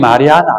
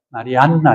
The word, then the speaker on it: 마리아나: 근데 우리는 마리아나 안 그럽니다. 마리안나 이러죠.